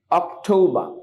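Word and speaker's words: October: September সেপ্টেম বা right অক্টোবা আচ্ছা আর যদি শব্দের শেষে থাকে তাহলে ব্রিটিশ উচ্চারণে আর উচ্চারিত হয় না ব্রিটিশ উচ্চারণে আর উচ্চারিত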